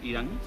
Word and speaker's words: Irán: Irán como el país. Irán como el país. Igualito. Se escribe igual y se Ajá.